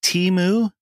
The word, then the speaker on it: Temu: You call it Temu?